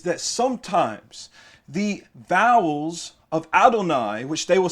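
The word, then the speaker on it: אדני: is spelled without holam so with or without hallam is still pronounced adonai they do not pronounce it adni you know they know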